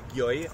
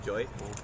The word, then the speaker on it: Gioi: Gioi, orang taunya, tapi bacanya sebenarnya Joy.